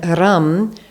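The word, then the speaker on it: ram: together om and then rum so r a m pronounced R like r u hm or r u m and the r is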